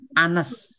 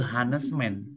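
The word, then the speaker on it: honest: ini kan tadiengucapan ya hanes itu dibacanya a teman-teman Anes gitu ya Anes Man Nah makanya kalaupun pakai pengucapanesman gitu ya bukan e hesman Walaupun dia huruf depannya konsonan ha nah dibacanya e Anes makanya dia pengucapannya A jadi anesman jadi di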